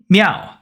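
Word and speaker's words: 妙: foundational character meaning meow so meow m i a o with the fourth tone pronounced me meow okay so number one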